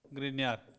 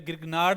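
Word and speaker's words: Grignard: दूसरा ग्रीनियर अभिकर्मक से, ग्रीनियर, ठीक है। और इसे ग्रिग्नार्ड भी सही तरीके से प्रोनाउंसिएशन करते हैं, ग्रिग्नार्ड, ग्रिग्नार्ड अभिकर्मक, ठीक है।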